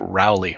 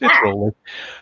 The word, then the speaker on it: Rowley: I get Rowley all the time, but it's Rowley.